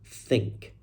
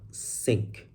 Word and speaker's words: think: The problem here is the word think not sink. Think not sink. The students say sink.